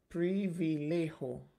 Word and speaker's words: privilegio: I know it's privilege, but how do you pronounce it in Spanish? Privilegio. Is that how you say it?